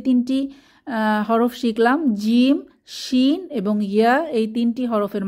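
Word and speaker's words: شين: এরপর শিন, 3 দাঁতের উপর 3 নুক্তা, এই হরফটির নাম হচ্ছে শিন। শিন জিহ্বার মধ্যভাগ তার বরাবর উপরের তালুর সাথে লাগিয়ে আওয়াজ ছড়িয়ে পড়বে, সা সা আওয়াজ মুখের চারপাশে ছড়িয়ে পড়বে, এটাকে তাফাশি বলে।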